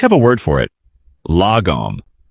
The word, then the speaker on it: lagom: The Swedish have a word for it, lagom. Pronounced l a h g o m.